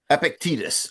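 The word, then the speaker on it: Epictetus: that he began with epicttos. Epictitus I think we'll say that's the your close your pronunciation is closer to the Greek one but in English we usually just say epictitus.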